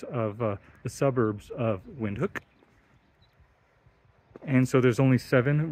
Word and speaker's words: Windhoek: so we are in vinhook spelled wind hook or h-o-e-k wind um but pronounced windhook which is the capital and largest